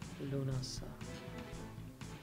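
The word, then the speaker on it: Lúnasa: Lunasa. It's written completely differently, but it's pronounced that way.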